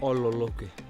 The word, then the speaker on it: Ololokwe: And how do you pronounce this? Ololokwe? Ololokwe. Ololokwe.